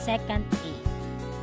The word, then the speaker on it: secant: The reciprocal of cosine A is called sec A, and this is pronounced as secant A.